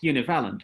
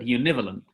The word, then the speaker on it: univalent: I would say Vladimir pronounced it not univalent, but univalent, with the stress on the second syllable.